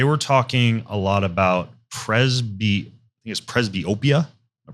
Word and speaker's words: presbyopia: And they were talking a lot about presbyopia. Am I pronouncing that right? Yes. What is that? And is that a part of what you treat also? So presbyopia that's the age-related changes that we talked about